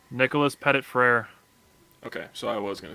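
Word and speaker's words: Nicholas Petit-Frere: Nicholas Pettit-Frere.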